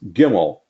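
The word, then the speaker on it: גימל: Then comes Gimel, G as in game.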